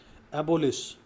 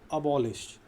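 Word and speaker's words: abolish: एबोलिश, अबॉलिश, जिसका सही उच्चारण क्या होता है? अबॉलिश, अबॉलिश।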